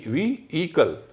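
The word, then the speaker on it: vehicle: आई सी एल ई इसमें एच का उच्चारण नहीं होता है अच्छा वे वी कल वे भी नहीं है वी इ कल आप एच हटा दीजिए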